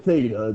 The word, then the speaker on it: theta: Theta. With a th.